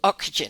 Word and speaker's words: Ocugen: So you're the chief medical officer at, how do you pronounce, is it Ocugen. Ocugen. Ocugen?